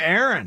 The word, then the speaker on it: Aaron: How do you pronounce the name Aaron and with two A's and the name Aaron with an ER? Pretty similar. I do it the exact same. It's Yeah. Aaron. It's It's just Aaron.